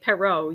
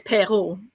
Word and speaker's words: Perreault: I mean, English-speaking people will say Perreault, yeah. But it's Perreault, It's Perreault.